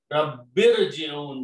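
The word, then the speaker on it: رَبِّ ارْجِعُونِ: Irji'uni, but when we stop here, we say irji'un, rabbirji'un. When you combine and read together, then rabbir, I don't pronounce this alif, Rabbir ji'un, send me back.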